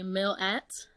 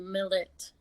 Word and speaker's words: Milat: I guess a lot of people say Milat. Mm-hmm. But I guess it came out that you actually pronounce it Milat. Really? Like kind of like with the E pronunciation.